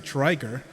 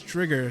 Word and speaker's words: Drigger: Because I've seen and hear people pronounce it Driger, and I'm like, unfortunately, it's Drigger.